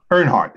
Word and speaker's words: Earnhardt: Earnhardt is right. Yes, I wasn't sure of the pronunciation.